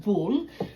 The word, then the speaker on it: boule: You can use a round one for a sourdough boule. That's what is pronounced, boule, which is French meaning round.